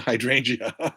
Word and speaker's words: hydrangea: where'd you go uh Madame the attic is pronounced home on the hydrangea hydrangea hydrangea not IA Sarah Donahoe do you